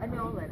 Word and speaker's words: Anolan: how do I pronounce it exactly? Anolan. Anolan. Anolan. Anolan. Okay. Anolan, and in English it's Anolan. Nolan for the Anolan for the Americans.